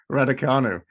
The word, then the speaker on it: Raducanu: No, I'm not much like that late Emma Raducanu. What do you pronounce it? Raducanu.